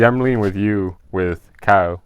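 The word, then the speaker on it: Caio: See, I'm leaning with you with Kao. How do you say his name? Kaio.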